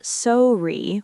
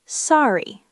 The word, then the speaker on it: sorry: The word sorry. Sorry? Listen to how it sounds. It's not sorry with two equal parts. It's more like sorry. The first part is stronger.